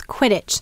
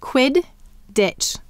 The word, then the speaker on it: Quidditch: So how many syllables in Quidditch? Two. And the first syllable, sound it out with me, is quid, qu, I, d. And the second syllable is ditch, d, I, t, ch.